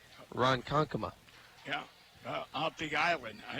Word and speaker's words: Ronkonkoma: And Mike wanted me to let you know, if I didn't tell you already, you pronounced his hometown correctly. Ronkonkoma.